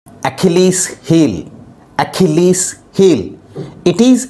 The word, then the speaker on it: Achilles: to be pronounced as achilles so the stress is on key so that is how